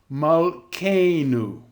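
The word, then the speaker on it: מַלְכֵּנוּ: Another way of seeing that the accent is on the penultimate syllable is when you have the vowel A or E in the second last syllable, on the penultimate syllable, and that will be the syllable that gets the accent, as in Malkeinu, Havinenu, Moshiehu, Elohecha, Takemna, Tisibena, Susoteha.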